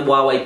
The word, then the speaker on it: Huawei: hi so there's a phone company called wuwei spelled like this who have just released a smartphone